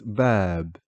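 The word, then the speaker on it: باب: Notice how the aleph is extending the fatha which is on the ba. So the word is bab. We are not saying bab. Okay. Bab would be if there was no aleph in between the two bas.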